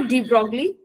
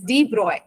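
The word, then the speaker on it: de Broglie: इट्स नॉट डी ब्रॉगली, इट्स नॉट ब्रोकेली, इट इज डी ब्रॉय, ठीक है। हाँ ma'am, French pronunciation होती है ना। हाँ, और वो सॉफ्ट स्पोकन लैंग्वेज है, इसीलिए, बल्कि डच भी डिफरेंट होती है।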